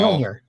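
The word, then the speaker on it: Mjölnir: Meow Yeah, meow. Mjolnir. You don't pronounce the by J. Mjolnir.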